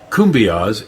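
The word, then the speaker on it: cumbias: way to El Salvador kumas is pronounced kumas the Kumbia is a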